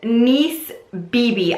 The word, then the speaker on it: Nice BB: oh and by the way yes this is pronounced niece Bibi I know that I know in the other video I said nice and then I made notes in the info